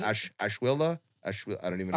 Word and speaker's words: ashwagandha: And I don't even know how to pronounce ashwilla. I don't even know. Ashwagandha. Ashwagandha, yeah.